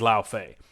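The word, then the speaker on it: Laufey: I made sure to look up how they expect you to pronounce that ahead of this and it is La Fay and look I feel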